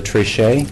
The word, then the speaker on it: Trichet: And with me is our Director of Programs, Trichet. You want me to spell it? Triche, if you want to put the little accent behind me.